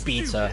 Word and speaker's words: beta: The pronunciation of beta is probably one of the only things that I will always just embrace the American pronunciation, because the British is beta, and it's like, nah, I'm good. Just call it. I'll just say beta, please. And it always annoys my